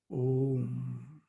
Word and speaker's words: Om: Now, if you just see the word Om, It is actually a combination of 3 syllables, actually 4. A, U, Ma, merging in silence. Om.